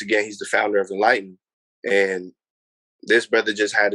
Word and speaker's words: Nlyten: Oh man, I want to give a huge shout out first to Enlighten. You know what I mean? And that's spelled Nlyten.